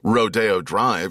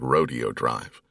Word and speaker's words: Rodeo Drive: Rodeo Drive here in L.A., it's in Beverly Hills, one of the most famous streets on earth, and yet it's spelled like rodeo. But you would get killed in reviews if you said Rodeo Drive.